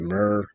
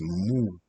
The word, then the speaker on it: Muur: I don't pronounce it Mur. I don't pronounce it more as an alphabet door. It's Muur, Muur.